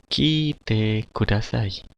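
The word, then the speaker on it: 聞いてください: Kite kudasai. Kite kudasai. Ya. Dari gambarnya ini dapat diartikan bahwa kite kudasai itu adalah dengarkanlah ya. I-nya ada dua, maka bacanya agak sedikit panjang, dua hentakan.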